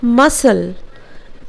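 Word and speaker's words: muscles: सन next इस तरह मसल्स मसल्स एम यू एस सी ल आई लेकिन यहां पर सी का उच्चारण हम लोग नहीं करेंगे सो सी bill B D silent letter और वे बिल प्रनंसीएट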